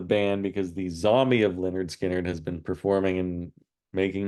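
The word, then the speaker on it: Lynyrd Skynyrd: in sexiness from uh Marvin there number 11 pronounced Leonard skinnard from Leonard skinnard and Freebird Simple Man Tuesday's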